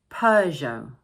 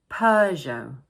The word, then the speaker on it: Peugeot: And don't forget the silent T at the end of the word. So we pronounce it Peugeot, Peugeot.